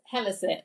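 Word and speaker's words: Hellesylt: um so your next stop was ganger or hellset was that is that correct I feel like you gave me a little cheat on the pronunciation there yeah so it's helit but very close to ganga say okay what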